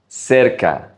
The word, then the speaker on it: cerca: Make sure you pronounce it right. Cerca.